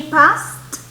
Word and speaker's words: passed: Y la pronunciación es con T al final. So, if she passed the exam, she will be able to enter the university.